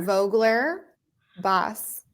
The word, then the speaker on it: Vogler-Bos: so it's how do I say it V Vogler boss so you're a Vogue boss basically I am